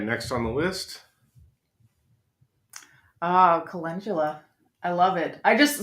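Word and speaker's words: Cotula: like that okay next on the list oh colula I love it I just so I just learned how to pronounce it too we were calling it culla yeah for a long time yeah I mean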